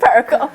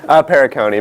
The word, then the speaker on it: Perricone: How do you pronounce it? Perricone. Perricone, but Perricone's fine.